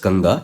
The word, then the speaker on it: Ganga: you can relate that the bigger the bigger letter it comes first so the bigger lettera it came first and then that smaller letter it came afterwards so it is pronounced as ganga and it can be